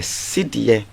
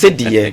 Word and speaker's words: Cedi: So in 1965, we had the Cedi, which was the symbol. I like the way you're pronouncing it. That's more authentic. Yes, Cedi.